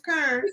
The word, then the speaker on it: Karen: You have to say her name properly. Her name's Kern.